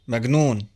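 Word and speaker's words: مجنون: pronounced gaml the word for crazy m is pronounced magon and so on some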